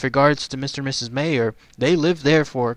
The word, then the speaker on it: Meyer: by the name of Mr. and Mrs. Mayer, or Meyer, M-E-Y-E-R, I guess is how it's said.